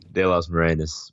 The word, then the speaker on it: David de las Morenas: De Los Morenas, but no worries, everybody butchers it.